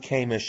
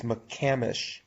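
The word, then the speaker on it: McCamish: pronunciation what it's m it's not Mish it's mamish yeah they didn't want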